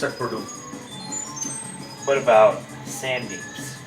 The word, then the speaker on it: Sandeep: So the pronunciation is exactly the same. Is both pronounced sun? Exactly the same. So there's four spelling possibilities: S-A-N-D-E-E-P, S-U-N-D-E-E-P, S-A-N-D-I-P, and S-U-N-D-I-P. They're all exactly the same pronunciation.